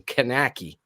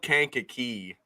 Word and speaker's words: Kankakee: that horribly butchered that how do you say the town it's called Kankakee Kankakee like who would who would butcher